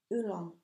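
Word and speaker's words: Oolong: CLA divine L's um ulong hat I hope I pronounce that that very good it's o l o n g it's like the tea um but this is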